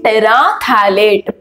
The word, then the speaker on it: terephthalate: Okay, so here P is silent actually. So it is polyethylene terephthalate.